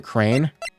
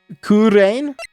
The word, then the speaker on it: Kurain: I think you just pronounce it Crane. Kurain? Kurain.